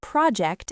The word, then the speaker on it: project: Also remember that project as a noun has the stress on the first syllable.